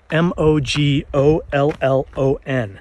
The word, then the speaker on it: Mogollon: Mogollon is spelled M-O-G-O-L-L-O-N. It's pronounced Mogollon.